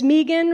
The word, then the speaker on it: Megan: and that's it my name is Megan rhymes with vegan I'll be around please